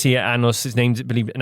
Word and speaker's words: Anus: And you said it's spelled A-N-U-S. Anus, but has been pronounced Annus.